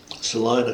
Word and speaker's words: Salina: were headed west, and ended up in Kansas, Salina, Kansas, which is a fairly nice town. It's not spelled like Salina, Ohio.